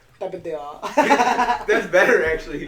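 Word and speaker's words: Tapatío: Tapatio. That's better, actually. Tapatio.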